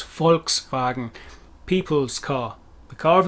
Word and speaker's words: Volkswagen: english would t the english would tend to pronounce volkswagen in full more so than abbreviated but it's volkswagen people's car the car of the people bmw